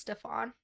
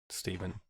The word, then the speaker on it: Stefan: truly stephen your middle name is pronounced stefan my first name is pronounced stephen yeah but it's spelled stefan and it will never be pronounced stefan if i have anything to say about it okay stefan